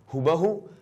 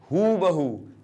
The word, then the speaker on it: हूबहू: हूबहू नहीं हूबहू। यह सही उच्चारण है इसका। बड़ी ऊ की मात्रा लगती है इसमें। हूबहू। ठीक है बच्चों? छोटे ऊ की मात्रा गलत हो जाएगी।